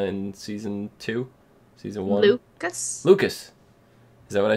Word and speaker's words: Lucas: Season Two Season one Lucas Lucas is that what I said no you said Lewis Lewis same thing I was close close I missed the syllable okay syllables who needs